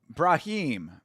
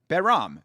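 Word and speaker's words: Bahram: But yes, we are supporting Brahim. Or, yeah, Behram? Brahim? Behram. Excuse me. I've been pronouncing it wrong the entire time.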